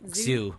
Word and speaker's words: Zhu: and uh you followed dr zhu is that how you pronounce that zoo yeah yeah and um yeah so